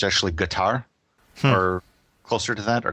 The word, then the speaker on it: Qatar: I think the actually the regional dialect does pronounce the first syllable as like a g so it's actually guar or closer to that or gutter but Kar is what they say